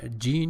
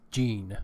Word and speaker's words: gene: as an adverb and for for gene you said gen it is gene pronunciation is gene the pronunciation of the